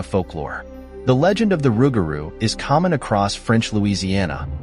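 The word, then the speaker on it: rougarou: Does lugaru rhyme with rugaroo? pronounced lu g- a ru and r u g- a ru respectively. These words rhyme with each other because rugaroo is the variant of French lugeru.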